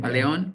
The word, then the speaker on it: Paleón: Hoy a través de, ¿cómo lo pronuncias? Paleon LLC es entrenador Paleón.